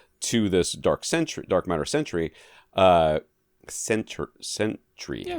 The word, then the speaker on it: Sentry: Sentry. Yeah, Sentry. Not Century. No. Sentry. Sentry. Yeah, Two syllables.